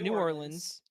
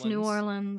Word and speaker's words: New Orleans: it huh new orans it's not new orans it's n New Orleans and it's Louisiana it's